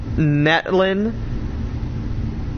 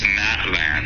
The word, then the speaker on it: Natlan: It overall emphasizes magnesiumbased puzzles and acts as a pivotal lore heavy bridge between Natlin and uh Natan. It's Natland.